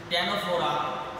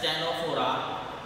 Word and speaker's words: Ctenophora: Now third phylum, that is Ctenophora. C is silent, we cannot say as Ctenophora.